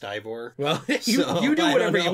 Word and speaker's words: Eivor: I always say Eivor, but I think it's pronounced Ivor.